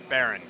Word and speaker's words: Baron: Jack, and what's the official pronunciation? It is Baron.